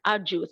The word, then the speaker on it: arduous: Because the spelling is AROUS, but we don't say arduous, arju. The pronunciation entails a J, arduous. It's an arduous task.